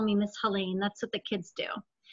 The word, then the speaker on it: Helene: And I say my name rhymes with Maine to help people. So Helene rhymes with Maine.